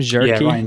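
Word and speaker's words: Cherki: And even like I mean, uh, Cherky, how do you pronounce his name? Jerky.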